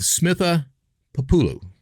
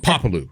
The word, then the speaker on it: Smitha Papolu: and be able to have a conversation with Smitha Papolu. Is that the right way to say that, Smitha? Yes. All right, so but that's good. Papolu.